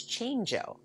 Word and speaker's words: Chango: my daughter's last name c-h-a-n-g-o chango well yes it should be it is not it's change-o change-o yes i'm sorry i'm